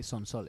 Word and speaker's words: Sonsoles: group called sones y have I pronounced your name with the correct Spanish inflections yes you did how how do how would you say your name I would say s Soles s Soles there you go perfect perfect but I'm